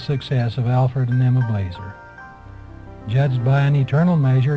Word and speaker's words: Blaser: younger than he was the family pronounced their name Blazer in Switzerland and in